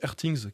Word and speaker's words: RTINGS: Vous avez un site qui s'appelle Airthings, qui est très très bien pour ça, où là ils font des tests avec des sondes.